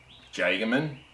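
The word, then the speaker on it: Jagemann: so I was using our jaegerman or if you're annoyed States and can't pronounce things properly it's Jay gammon remember that's the argument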